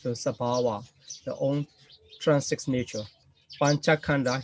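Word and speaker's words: sabhāva: So I just pronounce to introduce you the Pali pronunciation. So Sabhava, the own transit nature.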